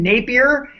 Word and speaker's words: Napier: yes is that how we say his name Napier from from the Sci-Fi Network show um Helix